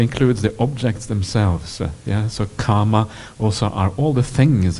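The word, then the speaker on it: kāma: It's not the same as kamma. It's two different words. Kama is one word. Kamma is another one. And kamma is spelled with double M, same as karma in Sanskrit. But kama is just only has a single M, but a long A in it.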